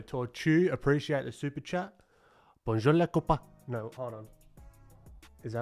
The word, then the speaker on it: bonjour les copains: Bonjour les copains. Bonjour les copains. Alright, so Tortu, appreciate the super chat. Bonjour les copains.